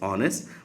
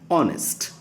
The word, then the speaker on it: honest: So an honest here h glottle sound is silent and we tend to say like this honest but we should say an honest.